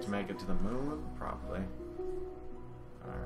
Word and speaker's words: Mun: to say one because it's not earth's moon it's kirbyn's moon which is spelled m-u-n people were talking about